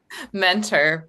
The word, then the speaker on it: Muenter: Mentor, but Mentor.